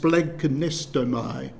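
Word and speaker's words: σπλαγχνίζομαι: compassion a delicious corny Greek word which is pronounced splagkin nestomy it's very onomatopoeic isn't it because I said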